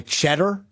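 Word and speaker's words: Tschetter: fascinated by the guy cheddar that came off the which was spelled like TS c h TT e r or something and they were fascinated his name was cheddar yeah and they kept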